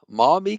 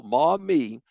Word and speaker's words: Maumee: Maumee County. I had to look at somebody's background just to make sure I said it correctly. So Maumee, I actually, one of the things that I